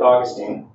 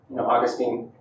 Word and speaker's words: Augustine: see similarities there with Augustine Augustine or Agustin depending on how you pronounce it he had that